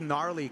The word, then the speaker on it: gnarly: like the froth yeah I like gnarly cuz there's a silent G in front of it yeah which is which